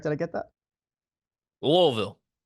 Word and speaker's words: Louisville: did I get that lville lville it's like a it's like a in the throat type of deal well we're going back